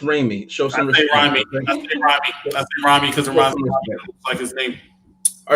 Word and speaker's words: Raimi: irani down there so let's go ahead it's pronounced Raimi because I just think all right so today